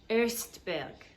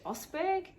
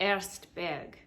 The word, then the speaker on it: Ostberg: the very fabulous mia erstberg and some people pronounce it osberg but it's actually erstberg so there's that because she's part swedish um mia and i